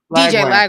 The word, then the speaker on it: DJ Lagway: DJ Lagway?